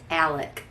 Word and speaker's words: Alec: um again and it's if you looked at it you'd think it was alex but south cacalac it's alec so alec murdock um